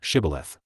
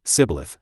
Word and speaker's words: Shibboleth: If he said, No, 6 they would tell him to say, Shibboleth. But he would say, Sibboleth, because he could not pronounce it correctly.